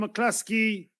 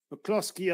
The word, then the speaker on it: McCloskey: It's a wonderful bounce from McCluskey. McCloskey, I beg your pardon.